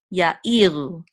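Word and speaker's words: יָאִירוּ: So this is a tipcha. It's telling us that the syllable, the accented syllable is this one right here. So ya-i, e is the accented syllable. Ya-i-ru, okay?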